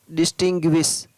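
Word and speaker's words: distinguish: मध्य में GUI हो तो उसमें GUI का उच्चारण है वो साधारणतः ग्वी होता है। क्या होता है, ग्वी। PENGUIN, penguin. DISTINGUISS, डिस्टिंग्विश।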